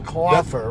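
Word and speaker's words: Klopfer: Klopher, right? Yeah, that's right. Klopher.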